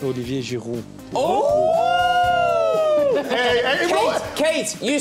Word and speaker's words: Olivier Giroud: Well, in French, it's Olivier Giroud.